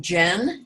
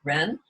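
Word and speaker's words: 仁: There's a Confucian term, Jen, Jen, or some people pronounce it Ren.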